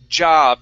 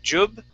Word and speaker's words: job: Okay, this word here is pronounced job. Instead of jub, it's ja, job.